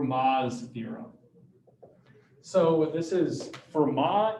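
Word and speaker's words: Fermat: don't know french uh you basically don't pronounce the back half of words so this is for ma not vermont um he was a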